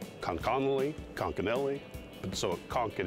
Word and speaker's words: Conconully: the town as conch and i've deliberately pronounced it five different ways just to confuse you guys but it is konkanoli washington local ian blomgrin spends his free time